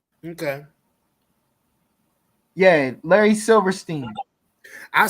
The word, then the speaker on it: Silverstein: Yeah, Larry Silverstein. I said Larry Silverman.